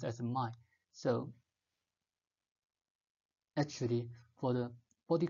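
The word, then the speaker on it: 脉: The vessels in Mandarin we pronounce as mai.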